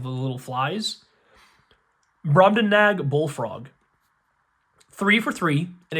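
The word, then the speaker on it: Brobdingnag: I wonder if that second G is silent. So, it's broadbenag like nagging because like gn can be silent g sometimes like nat like the little flies. Broden nag.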